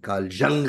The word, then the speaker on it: Jung: It is Carl Jung as pronounced and Carl Jung as written. Okay. So Carl Jung, Swiss. And hence the pronunciation is Swiss slash German, which is Jung.